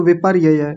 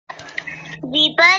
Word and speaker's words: विपर्यय: बताइए आचार्य आचार्य जी इन्होंने र नहीं बोला इन्होंने विप बोल दिया अच्छा ऐसा बोला हां ये शब्द थोड़ा सा गलत तो बोला था श्रुति बिटिया ध्यान दीजिए विपर य ऐसा बोलिए आचार्य जी मैंने बोला